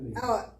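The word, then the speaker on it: פנוי: It's a, Panui. like a oi. like an oi, Oh, so panui, panui, panui, and this one is a oo, Panui.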